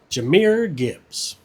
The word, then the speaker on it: Jahmyr Gibbs: Number 1, Jahmyr Gibbs. Hey, I pronounced his name right this time.